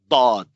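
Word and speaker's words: ض: fi Ta'allum al-Lugha al-Arabiyyah, they teach you that this is an emphatic dal, dad, right? This is a very late pronunciation. This is not reflected in Sibawayh. Sibawayh, for example, says that this is a lateral, emphatic lateral fricative.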